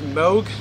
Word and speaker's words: Moog: dean m or n-o-o-g i think it's pronounced moog is the instrument but it's